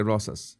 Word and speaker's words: Rosas: they don't exist Enrique Rosas Rosas Rosas you can say Ross I used to say uh how did I pronounce my name incorrectly I couldn't roll the r with my tongue so I had to fake it but you know I